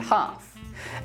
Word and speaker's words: half: Other cases of a silent L are could, should, would, calf, and half.